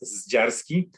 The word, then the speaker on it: Zdziarski: My surname is unpronounceable in most languages in the world, but in Polish it sounds Zdziarski.